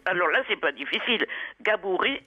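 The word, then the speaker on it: Gabourey: Comment on prononce son nom à cette jeune américaine? Alors là, c'est pas difficile. Gabouré Sidibé. Gabouré Sidibé.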